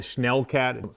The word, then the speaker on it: Schnellcat: We call it the Schnellcat. Somebody DM that to me. It's my favorite. Schnell means fast in German, so it's like fast cat. Also, it rhymes with Hellcat.